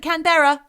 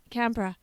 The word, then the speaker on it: Canberra: canberra don't pronounce it canberra it's not pronounced that no canberra yeah there's a bra on there's a bra on the end exactly yeah what else